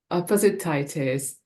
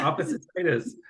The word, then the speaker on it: Opposititis: author of really lovely book want you f opposite tit is the ridiculous family love story yeah did yeah yeah and you pronounced it right that's not easy yeah opposite tius yeah you know what my dyslexic brain when